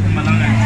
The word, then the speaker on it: emalangeni: Okay, if it's plural, call it emalangen. Emalangen? Yeah, but if it's just one, then it's lilangen. Oh, lilangen when it's one, plural emalangen.